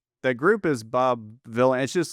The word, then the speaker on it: Vylan: If his surname is generally, it's just a play on Bob Dylan. The group is Bob Villain.